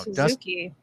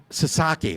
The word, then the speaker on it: Sasaki: So, the starting rotation is going to start to get crowded, which means now you look at Dustin May now Suzuki.